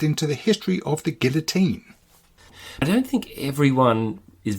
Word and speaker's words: Guillotin: So just pronounce that name again for me. Joseph Ignace Guillotine.